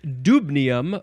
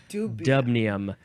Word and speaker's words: dubnium: uh the next one is probably pronounced dubnium or dubnium the symbol is DB the number is 105 and the weight is 262 in parentheses dubnium like a DubStep neum indubitably I don't know